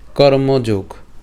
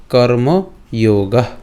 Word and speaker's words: কর্মযোগ: 3য় অধ্যায়ের নাম হলো কর্মযোগ। তো আমরা সংস্কৃতে যদি উচ্চারণ করি, এর উচ্চারণটা কেমন হবে? কর্মযোগা।